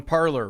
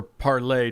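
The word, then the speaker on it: Parler: the big discussion on parlor right or parlay depending on how fancy you want to pronounce it so yeah I mean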